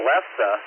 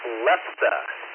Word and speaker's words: lefse: Alex, it's lefse. Lefsse, I think is the proper pronunciation.